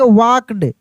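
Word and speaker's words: walked: अब देखिए यहाँ पे एल साइलेंट है, क्या है, एल जो है यह साइलेंट रहेगा, यानी एल का उच्चारण नहीं होगा, यानी इसको पढ़ देंगे वॉकड, ठीक है।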